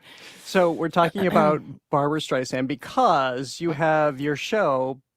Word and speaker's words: Streisand: So she's the one who went to Alexa and wanted to correct the pronunciation cuz they said like Streisand and it's Streisand.